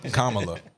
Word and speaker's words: Kamala: i said it wrong i said it wrong and i started saying it too it's kamala said it wrong yeah